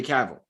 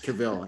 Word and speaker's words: Cavill: Wait, you're saying Henry Caval? Yes, I'm saying his name wrong, but yes. Cavill.